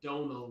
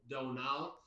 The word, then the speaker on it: Donal: And then my name is like Donal, which is a weird Irish name. Another Simpsons thing. A lot of people can't pronounce Donal, so I'll often say it's like Homer Simpson says Donal.